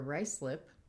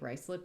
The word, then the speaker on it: Ruislip: The important thing is rice, as the component at the beginning, is now spelled R-U-I-S in the place name and pronounced rice, which of course I mispronounced until I heard Biblaridian say it out loud.